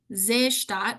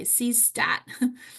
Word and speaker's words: Seestadt: to look it up, it's spelled Seestadt, Seestadt, or we would say Seestadt, Aspern, Aspern.